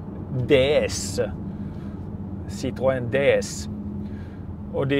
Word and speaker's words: DS: Men nej, det är ju hur man uttalar D och S på franska. Men när du kopplar ihop D och S så blir det ordet DS.